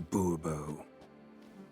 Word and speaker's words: Bourbeau: Fine, Monsieur de Bourbeau. The emphasis falls on the last syllable.